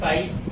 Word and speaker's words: chi: इसी को क्या बोलते हैं हम, काई. इसको CHI लिखते हैं और प्रोनाउंसिएशन इसका काई करते हैं.